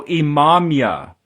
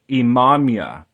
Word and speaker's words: Imamiah: So Imamia, in Hebrew, this is Ayin, Mim, Yud, He, Imamia.